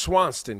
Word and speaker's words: Swanston: your Publishers exactly exactly Swan and it's pronounced Swanson correct Swanson yeah Swanson representing the BX